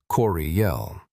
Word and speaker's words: Curiel: In the English-speaking colonies of New Jersey and Pennsylvania, Curiel became phonetically spelled as Curiel, often pronounced Coriel.